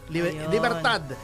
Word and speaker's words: Libertad: youth youth eh youth gentu virtu virt liberta Libertad h ba sa atin may kalyeng Libertad in Spanish ang pronunciation liberta Ayun silent yung D Yes ah